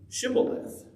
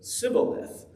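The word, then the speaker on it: shibboleth: would say to him then say shemaleth and he would say sibileth for he could not pronounce it right then they would take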